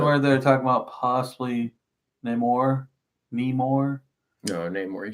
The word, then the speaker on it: Namor: Is that the one where they're talking about possibly Namor?